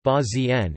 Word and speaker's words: البازين: Bazin Arabic, al-bazin pronounced ba-z-n, is an unleavened bread in the cuisine of Libya prepared with barley, water and salt.